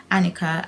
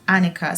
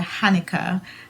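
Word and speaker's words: Hanika: I think it's pronounced Annika so I think the H is silent so I'm really happy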